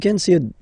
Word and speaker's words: ses: The Feminine form Ma Da Sa okj so see Well Of course differences but then Still You